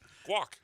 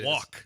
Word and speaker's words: guac: Guac. What's wrong with that? He's got a hard G in it. That's a hard G. It's walk.